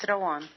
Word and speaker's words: Rawan: Am I pronouncing your name correctly? Yes, it's Rawan.